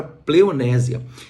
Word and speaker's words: pleonexia: E esta palavra koinonia, ela é sempre enfrentada pela palavra pleonésia. E esta palavra pleonexia, que se escreve com X e A, pleonésia, essa palavra pleonésia, ela é uma palavra